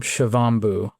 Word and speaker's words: Shivambu: Um people often talk about this practice as urine therapy UT or they might use the Ayurvedic term shiovu.